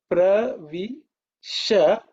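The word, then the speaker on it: प्रविश: The last one is pravisha. This is what I said, the palatal sha.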